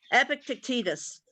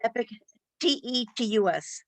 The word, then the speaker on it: Epictetus: Epictetus. Can you please spell that?